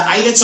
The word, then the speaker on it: islets: eyelets of ler hands pronounce in the word eyelets Okay so hindi siya islets of ler hands ha eyelets of ler